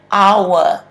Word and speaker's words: hour: Silent H for the word hour. You don't hear the word H.